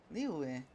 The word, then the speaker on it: Liyue: Liyue.